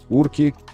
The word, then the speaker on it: урка: речи каторжане искажали слова ставил ударение на последнем слоге урки на уроках например на